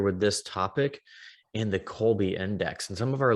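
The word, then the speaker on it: Kolbe: absolutely so um yes so colby index and that is k-o-l-b-e on many tries spelled with c but it's a k um colby is a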